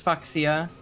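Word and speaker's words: Fuchsia: Yeah, which is always the way that I read it to myself to remember how it's spelled. It's Foxia.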